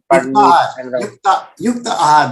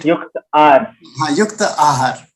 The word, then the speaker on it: Yukta Ahar: Yukta Ahar, that is the right diet. Yukta Ahar. There's a space in between, so without a space.